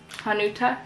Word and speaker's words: Hanuta: this guy how do you say this uh hanuta yeah oh that was right oh cool okay